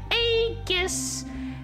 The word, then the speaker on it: Aegis: I seriously swear this to you, Aegis. Ah, yes, I pronounce it with a hard G.